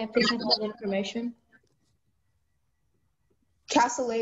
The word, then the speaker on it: cassoulet: Cassoulet is the only pronunciation.